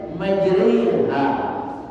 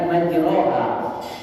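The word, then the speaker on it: مجراها: Itu di bawahnya membacanya itu majriha, bukan majroha.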